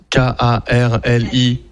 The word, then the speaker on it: Karlikaya: Et juste pour revenir à Célène Carlecaya, vous la retrouvez sur sa chaîne YouTube, Célène Carlecaya, comme ça se prononce, Karlikaya.